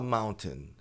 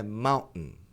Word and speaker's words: mountain: Você pode falar mountain. Mountain não é muito incomum de ouvir, mas o mais comum é mountain. Então você tem o N de Mount e T a n. Viram isso aqui? Um ma como se fosse um, como se você tivesse engasgando. Ma um ma. Tá. É estranho, é esquisito? É questão de costume só, tá? É só praticar.